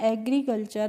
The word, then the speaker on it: agriculture: TURE का जो pronunciation होता है वो फ्रेंड्स चर होता है, ट्योर करके नहीं होता है। तो इसको हम पढ़ते हैं एग्रीकल्चर।